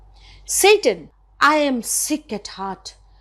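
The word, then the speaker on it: Seyton: officer in waiting and the name is satan s-e-y-t-o-n but when you pronounce this word on stage what does it sound like i'll just come back to that satan i am sick at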